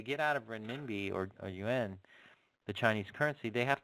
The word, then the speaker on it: yuan: so it's a Chinese yuan. It's pronounced yuan, not yuan.